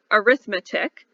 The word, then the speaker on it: arithmetic: so you know right this word looks like arithmetic but when we're talking about sequences we say arithmetic that's the way to pronounce it all right all right so how